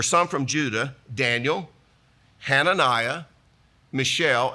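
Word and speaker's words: Mishael: from Judah Daniel hananiah Michelle and that is the way you pronounce it but it is a guy's name and Azariah the chief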